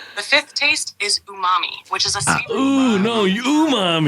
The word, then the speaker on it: umami: the fifth taste is Umami which is a no umam ooh mommy oo mommy hi momy all right that's how you Umami Umami like Jumanji sure I I I